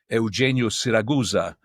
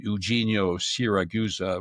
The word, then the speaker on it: Eugenio Siragusa: said there's UFO contactee Eugenio Siragusa. That's the Italian pronunciation. Eugenio Siragusa with the American accent was coming to Geneva to give a conference, and I said, "Oh, that should be interesting."